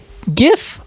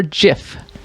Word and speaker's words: GIF: Is it pronounced GIF or JIF?